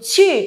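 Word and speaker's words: 去: Chỉ. Ok, thanh 4 nha. Chú ý thanh 4 chém cái tay xuống cho tôi nào.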